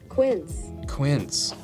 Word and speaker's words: Quince: Let's see what Google has for pronunciation. Quince.